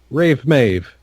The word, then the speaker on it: Rave Maeve: mentioned a rave mave it is officially rave Maeve in the PPS which is a much better name because rave is actually kind of spelled like Maeve as well it's like hard AEV e so yeah and it's